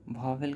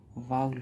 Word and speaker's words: vowel: इसका उच्चारण कई लोग वावल कहते हैं, लेकिन इसका सही उच्चारण वाउल होता है, वाउल।